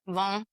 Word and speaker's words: vin: Vin Von is how they say it in French.